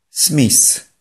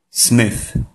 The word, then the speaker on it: Smith: To jest błąd. Te H nie czytamy jako S, tylko jako dźwięk przypominający F, przy jednoczesnym usytuowaniu czubka języka pomiędzy górnymi i dolnymi zębami. Prawidłowa wymowa tego słowa powinna brzmieć Smith.